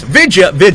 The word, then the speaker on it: vidya: Vidya. Actually, it's usually VIDYA is how they spell it.